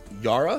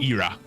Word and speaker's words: Ira: Is it Yara? Yura. Yura. No, Ira. Like Ira. Just like a Hurrah! press. Yeah. Like a sound you would make.